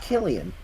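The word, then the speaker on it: Cillian: slian Murphy as me apparently it's pronounced Killian I don't give a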